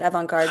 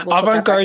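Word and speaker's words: avant-garde: This is a surrealist and also Oh, I said avang guard. Avantgard surrealist. Yes. Yeah. Poem inspired by pop culture. Mhm. If you say it like that, it's better, right?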